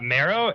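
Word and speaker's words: merrow: marrow sorry are gonna go how do you spell that uh marrow m-e-r-r-o-w they're really badass looking by the way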